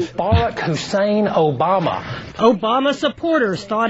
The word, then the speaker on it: Barack: Rhymes with Iraq. Still, Obama's not sweating it. The American people are not concerned about middle names. Barack Obama what?